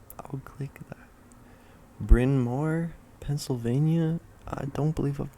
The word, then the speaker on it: Bryn Mawr: Bryn Mawr, Pennsylvania.